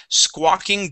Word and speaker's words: squawking: squawking good good and this is a a great example of an aw where we just pronounce an A okay the sko that o sound comes from the Q the U right after the Q so one more time